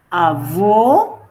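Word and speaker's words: avô: diferencia pero por ejemplo si yo digo u avo es abuelo y avo más fuerte y más abierta esa o es abuela la o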